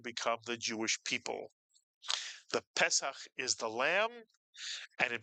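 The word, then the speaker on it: פסח: You put the word together and you get pes. Pesak.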